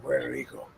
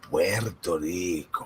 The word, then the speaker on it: Puerto Rico: It's pronounced like this, okay? It's Puerto Rico, like that. Try it. Try saying Puerto Rico. Puerto Rico. That's totally wrong.